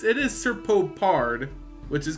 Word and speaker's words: Serpopard: MTG that this name is kind of tricky pronounced I want to say prowling serpopard or serop Pad but it's it is serpopard which is correct uh cool creature uh can't